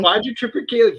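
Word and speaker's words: Quadrotriticale: I can never pronounce it correctly. Quadrum Tripicale.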